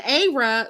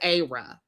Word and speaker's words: Ayra: And Ayra, you guys can correct me if I'm saying her name wrong. The Africans told me it was Ayra.